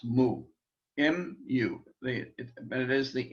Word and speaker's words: mu: helps to remember mu that's the way it's pronounced mu it is the m sound and when we